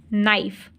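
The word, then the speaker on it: knife: देखें बच्चों यह है नाइफ के एन आई एफ ई नाइफ अब इसको हम नाइफ बोलते हैं केना नहीं बोलते तो इसमें जो के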